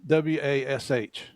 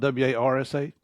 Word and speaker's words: wash: Yeah, how do you say WASH? Wash? Yeah. Okay. Wash. It's not WARSH? No, I don't. There's no R's on our S's.